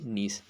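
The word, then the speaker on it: gneiss: रखना जी से ग्रेनाइट और जी से नीस नीस में जी साइलेंट रहता है ठीक है ग्रेनाइट एक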